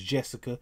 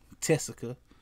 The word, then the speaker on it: Tessica: I thought her name was Jessica, but it's Tessica. So instead of a J, just add a T.